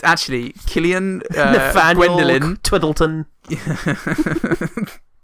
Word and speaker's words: Cillian: Killian Murphy I took excuse me it's actually Killian bad Whelan twiddle t'en is piddly fondle spoon Murph swam pronounce nice yes as is Gaelic isn't it